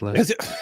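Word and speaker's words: Lister: It's probably Lester and you're like there's there's too many le there's too many letters for that to be Lester. Lester. That's it. It's Lester. I knew it. I knew it. They always have these stupid pronunciations where it doesn't match up.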